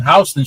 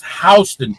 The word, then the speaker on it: Houston: particular street is pronounced Hston, just in case you go to Manhattan and you see it, you see the sign, it's spelled the same way, but it's pronounced differently.